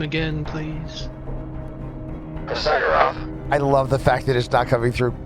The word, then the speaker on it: Hrxyg'giroth: Am I pronouncing it? Hrxyg'giroth. Hrxyg'giroth.